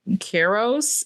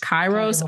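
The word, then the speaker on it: Kairos: Kronos and Keros, is that how you pronounce that? Chyros.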